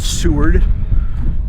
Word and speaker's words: Seward: had lunch and I did get confirmation it's pronounced Seward and I'm at the D point I guess